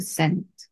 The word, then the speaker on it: Cent: 30 Cent. 30 센트. 그래서 방금 한 거지. 30은 이렇게 Z가 아니고 S 발음이 이래죠.